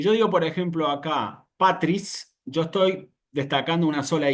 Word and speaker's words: patris: Eh, Bueno, hasta aquí tenemos entonces in nomine patris. ¿Sí? Ven que, por ejemplo, en este caso también la A no tiene ninguna variación en la pronunciación. Patris es simplemente una A.